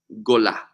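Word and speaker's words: גולה: You see, the way to say exile in Hebrew is gola.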